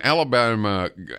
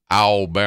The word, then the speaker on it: Alabama: voraciously about this when Alabama Alabama that's how you say it say it with me no alb an Alabama yeah there's no Ellen ba-ba-bam Alabama when alabama Governor George